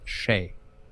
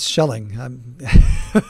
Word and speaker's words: Schelling: The concept was introduced by the American economist Thomas Shea. If I pronounce it right. I bet it's Thomas Schelling.